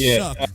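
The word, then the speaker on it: Shough: Tyler Shook. Yeah. That's a crazy pronunc Yeah. It's pronounced Shook.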